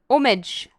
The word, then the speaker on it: homage: an honorary tribute or homage homage oh you say it like a french person homage lap for sabine